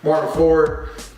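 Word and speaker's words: Martyn Ford: I believe you say it is Martin. I know it's spelled different. Martin Ford.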